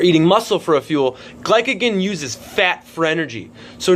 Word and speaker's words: glycogen: And I might have the word kind of mispronounced, but it's not glycinogen, it's not glucose, not any of those. It's called glycogen.